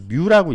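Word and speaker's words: μ: 자, 저거는 읽을 때는 마찰 계수 뮤라고 읽어요. 뮤. 그리스 글자인가? 뭐 하여튼 그렇죠. 뮤라고 읽어요.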